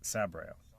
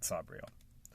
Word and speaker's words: Sabriel: It's Sabriel. Sabriel, not Sabriel. Sabriel.